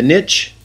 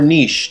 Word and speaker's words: niche: Look for a company with a niche or niche, depending on how you want to pronounce it.